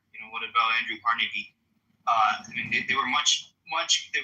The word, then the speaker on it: Carnegie: So well, pronounce his fucking name right. It's Carnegie.